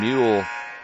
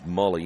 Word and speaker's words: Mule: We'll see Ian Mule come in. Jansen also coming in. Steven Jansen, a 6'3 senior. Now we're going to change him back. So his pronunciation is Mully. Ian Mully coming in.